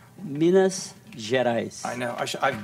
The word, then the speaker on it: Minas Gerais: come from again Brazil miniaturize and miniaturize I'm saying it wrong Minas Gerais I know I should